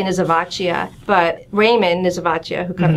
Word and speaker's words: Nisivoccia: ways, and we say Nisivoccia, but Raymond Nisivoccia, who come, you know, his wife says it's Nisivoccia. And I guess because in Italian, like you have to say the O.